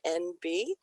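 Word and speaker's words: enby: the new phrase nb it's spelled e-n-b-y for its abbreviation for the phonetic for non-binary or nb which was brand new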